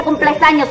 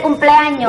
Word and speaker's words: cumpleaños: Tú lo sabías no pero no se dice cumples años se dice cumpleaños bueno el monom mantico